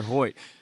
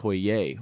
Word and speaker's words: Hoyet: Yes, sir, Hoyet, which I actually learned in Louisiana. It's actually pronounced Hoyet, which is how it was originally pronounced. Okay. But I go with Hoyet. It's a lot easier.